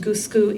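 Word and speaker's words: gusuku: our next discussion uh gushu is usually pronounced gusu in actual Japanese um and they're the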